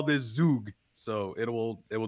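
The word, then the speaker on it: Zug: I'm from Switzerland you have to call this Zhuge so it will it will definitely be Zhuge from now on so we visited Switzerland and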